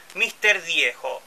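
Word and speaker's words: Mr. Dieho: Diejo, si es que lo pronuncio bien, se escribe M-R-E-D-I-E-H-O, bueno, en vez de Diego le saca la G y le ponéis la H. Mr. Diejo, se pronuncia así.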